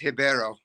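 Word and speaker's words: Ribeiro: it's the uh Claudio ribio versus the Abdel razika Hassan do you guys have a lien on that fight at all only that it's pronounced hibero that's the only thing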